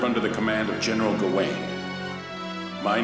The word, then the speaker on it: Gawain: miss studying the sword under my commander general gawain well that's how you pronounce that when the time comes for you